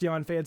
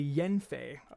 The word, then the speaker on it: Yanfei: guys told me that yanfei is not pronounced dion fans actually yen faye i'm according to you